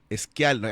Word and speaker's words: Schialer: Schialer, así se pronuncia, ¿no?